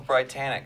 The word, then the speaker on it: BriTANicK: It was like, hey, what if we called ourselves BriTANicK? Because it's like Brian and Nick and like Titanic, but different.